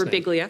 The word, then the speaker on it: Birbiglia: How do you say Mike's last Birbiglia.